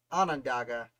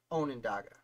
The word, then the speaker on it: Onondaga: I spelled it wrong, and I learned at the DMV that it's pronounced Onondaga, not Onondaga. I was laughed at on several occasions because I didn't know how to say where I lived.